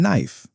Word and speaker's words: knife: Some letters in words are not pronounced like the B in lamb or the K in knife.